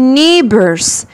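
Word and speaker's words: neighbors: نيو جيران بص بقى الجي والاتش هنا سايلنت ما بنطق هش يا سنه تانيه يعني مالهمش صوت خارصين خالص بقول نيبرز نيبرز ن برر نيبر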